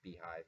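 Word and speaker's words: bhyve: easy GL one is be hi it kind of pronounced beehive but it's spelled like this another is IO Cage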